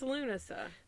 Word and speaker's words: Lughnasadh: like a sneeze uh it's not it's lunaa that is how it's pronounced and I've got a YouTube video linked in the episode description to prove it I totally Googled to